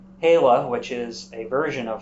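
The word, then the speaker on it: Lá: which is three words la which is the word for day la which is a version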